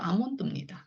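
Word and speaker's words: almond: 단어들 보실 수 있는데요네 a a 하고 L이 붙어 있으면 L이 무음이라는 거예요네 어떤 단어들이 있는지 한번 보시겠습니다 자 예를 들어서음 이런 단어가 있어요 Al이 이렇게 붙어 있는데 Al이 붙어 있으면 L 지금 무이다 이 소리잖아요 그래서 이거를 아 몬드라고네 몬드라고네 그대로 아몬드이 우리가 잘 알고 있는 경과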